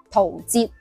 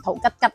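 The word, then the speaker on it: 陶喆: 吉吉呢两个字是读喆，陶喆，唔好读成陶吉吉啦。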